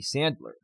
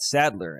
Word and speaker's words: Sandler: butchered I must have been butchering your name all this time Sandler not Sadler as in sad right my God I